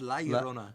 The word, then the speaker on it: La Llorona: It's La Llorona. La Riona. What's that? La Llorona. La Riona. La La. Llorona. I think it was La Llorona.